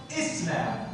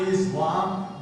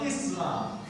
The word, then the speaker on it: Islam: It's pronounced Islam, not Islam, but Islam.